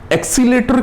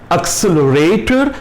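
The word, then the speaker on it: accelerator: एक्सीलेटर क्या होता है? एक्सीलेटर कोई शब्द नहीं है, कोई उच्चारण नहीं है, वो है भी तो एक्सेलरेटर या एक्सीलरेटर।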